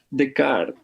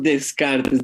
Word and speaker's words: Descartes: es René Descartes o que se le dice decart algunos le pronuncian así en en francés de pero nosotros hicimos Descartes de hecho el Samuel